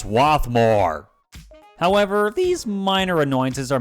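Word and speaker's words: Swarthmore: automated message system that occasionally pronounces the name of stations wrong it's swathmore however these minor annoyances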